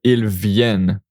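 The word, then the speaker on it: ils viennent: Ilven. So, and this one it's pronounced il ven. We don't pronounce the n t because it's a verb in plural the ent like that and like they the day come.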